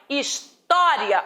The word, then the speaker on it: história: Da mesma forma, história, o timbre é aberto. Eu não falo história, eu falo história.